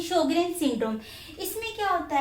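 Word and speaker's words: Sjögren: ये स्पेलिंग ध्यान से देख लेना, ये जे है जो कि साइलेंट है, तो इसे हम बोल देते हैं शोग्रेन सिंड्रोम।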